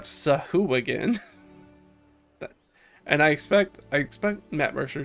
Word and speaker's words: Sahuagin: It's on record is pronouncing this Sahuagin. That is not how that is said. That I have never heard anybody say that. Sahuagin is supposed to be accordingly the appropriate pronunciation for that word per D&D from like the